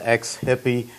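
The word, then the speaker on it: XHIPPEE: please note the spelling it's pronounced ex-hippie but it's spelled completely different people call me up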